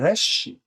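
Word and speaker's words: ריש: 20번째는 레쉬 레쉬입니다. 레쉬라고 읽고 얘는 부드러운 기억 부드러운 기억 부드러운 기억 문자의 모양을 가지고 있습니다.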